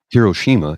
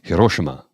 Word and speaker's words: Hiroshima: It's not Hiroshima, it's Hiroshima.